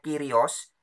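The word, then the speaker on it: κύριος: gelar kehormatan kurios nah kurios ini tulisannya kurios bacanya kirios ini bahasa Yunani sama dengan Tuhan nah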